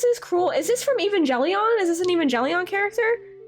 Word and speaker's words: Evangelion: It's pronounced with a hard G, Evangelion. Yeah, it's Evangelion, definitely.